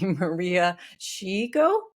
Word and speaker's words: Maria Shiyko: of mine and she's going to have to pronounce her name for me Maria sheo you did it great did it right yes